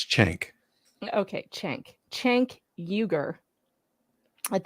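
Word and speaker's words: Cenk: to say his name it's not chunk like from Goonies it's chank okay Chen chank yuger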